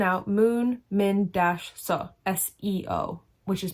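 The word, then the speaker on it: 서: S-E-O in Korean, when it's romanized, is Se, not Seo.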